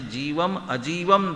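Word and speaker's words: जीवमजीवं: जीवम जीवम दव्वम, म पूरा है, माने जीवम अजीवम दव्वम, जीव और अजीव।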